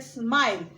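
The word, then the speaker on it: smile: जैसे कि अभी स्माइल, अभी कोई स्टूडेंट्स क्या बोलते हैं? स्माइल, स्माइल नहीं होता है बच्चे, ये ई गलत है। हम बोलते स्माइल, स आधा ही प्रोनाउंस करते हैं।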